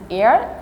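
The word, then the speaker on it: heir: no alternative and look the word h-e-i-r the pronunciation is air age must be in silent position so uh there's a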